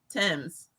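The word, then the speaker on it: Tems: i think i got this one right teams tim's that's on the future song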